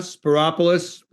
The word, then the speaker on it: Spyropoulos: Spyropoulos, it rhymes with metropolis.